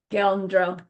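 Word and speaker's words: 'gal: It looks like it's spelled like this but the prenasal is that apostrophe gal.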